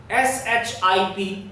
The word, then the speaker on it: ship: So in this way you can differentiate between these two types of pronunciations. You must practice over it. And now the sounds I and double E. SHIP is ship and SHEEP is Sheep.